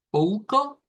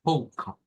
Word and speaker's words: pouco: En cuestión, y vamos a dejar quizás esta pronunciación de esta manera, siendo la sílaba tónica la pou, pou, pouca, pouca.